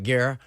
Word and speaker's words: Guerrero: Guerrero? Like Terror. Terror. All right, Guerrero.